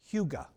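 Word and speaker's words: hygge: they have a word it's spelled h-y-g-g-e it's pronounced huga and in both danish and norwegian huga refers to and i quote a pleasant and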